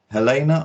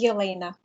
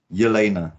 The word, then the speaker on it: Yelena: um today i'm meeting helena or is it about ha is it helena elena it's elena elena yeah i wondered i wondered if it was like a silent h or something like that i'm not great with